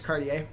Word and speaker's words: Cartier: Actually, funnily enough, so my last name is Cardier. Uh, which like sometimes if you pronounce it weirdly, it can sometimes sound like like if you pronounce Courier like Curier, it definitely sounds like Cardier.